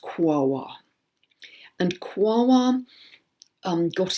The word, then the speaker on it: Quaoar: It's called Wawa, Quaoar, far too many vowels in it. I understand that's pronounced Wawa.